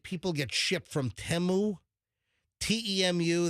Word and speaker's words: Temu: I don't know why, some of the junk that I've heard that people get shipped from Temu, T-E-M-U, that's how you apparently pronounce it. It's Temu.